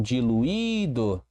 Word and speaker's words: diluído: O mesmo acontece com diluído. Diluído, diluído. O I tônico sozinho, precisa de um hiato, né? Foi separado aqui, ou acompanhado da letra S.